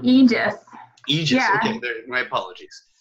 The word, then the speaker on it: Aegis: Is that how do you pronounce it? Aegis? Yeah, it's called Aegis.